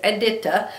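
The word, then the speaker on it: Edyta: And yes, her name is Aditta. I heard her say it. I saw her on a video showing how to do her butterflies. And she says her name is Eda.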